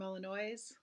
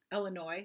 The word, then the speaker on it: Illinois: here Ivon hi from Illinois Illinois sorry s is silent hi Sue yeah thanks